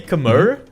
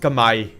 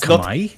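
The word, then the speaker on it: Khmer: do with Age of Vampires we all say kamur but actually it's pronounced kamay it's kamay yeah yeah yeah it's oh my God no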